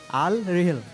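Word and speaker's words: Al Rihla: আপনার উত্তরটি সঠিক হয়েছে এটির উচ্চারণ বিভিন্ন জায়গায় মানে এরাবিক হলেও এটি প্রাদেশিক উচ্চারণের ভিন্নতা রয়েছে যে কারণে আল রিহাল আল রেহেলা বিভিন্ন জায়গায় বিভিন্নভাবে বলা হয়ে থাকে আমরা আপনার উত্তরটি নিচ্ছি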